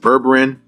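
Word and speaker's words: Berberine: Berberin. That's how you pronounce it. Berberin, the L-carnitine, what is the other one?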